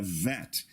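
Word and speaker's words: ב: Without the dagesh, the letter would be a vet, taking the sound of the English V as in Victor.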